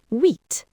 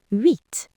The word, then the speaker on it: huit: huit The H is silent. It starts with a U sound. huit Avery?